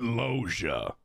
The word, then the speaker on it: Loggia: how to say it that's right logia Robert Loggia r as in oh my God is that